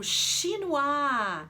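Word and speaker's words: chinois: gastronomia do Brasil qual que é é o Shino a isso mesmo Shino a sem saber o que que é um shinoar quem é da área da Gastronomia Com certeza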